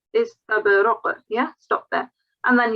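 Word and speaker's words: إِسْتَبْرَق: In your previous recitation, when you were stopping, you did pronounce the tanween here as well. Don't do that. If you're stopping, it's just istabraq.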